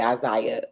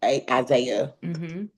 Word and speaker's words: Isaiah: coming in to play Isaiah. Isaiah. Yeah, you had it. Did I say it right? Like the second time you said it right. Like Jesus, Jacob's brother.